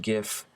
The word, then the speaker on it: GIF: pronounce it as gift the original creator pronounces it as jiff both of them are considered correct now that's not really